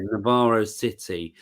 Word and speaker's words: Navarro City: say this name of this attraction is it Navarro City yeah Navarro City so that's in the building shop at the